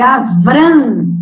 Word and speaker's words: Avram: E o nome Abrão, que na verdade em hebraico é Avram, com V, tá?